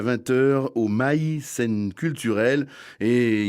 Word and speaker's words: Mail: vient à 20h au Mail. C'est pas au Mel, hein, ça s'écrit pareil, mais enfin c'est vraiment un endroit.